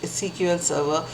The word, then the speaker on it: SQL Server: SQL Server cql server it is pronounced as cql server Oracle MySQL cbas db2